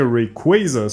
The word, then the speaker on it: Rayquaza: And if there is a Mega Rayquaza, sorry, I'm saying Rayquaza because that's how you're supposed to pronounce it.